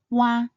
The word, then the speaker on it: ua: First, Wa. Wa is made up of the combination of the U and the R final.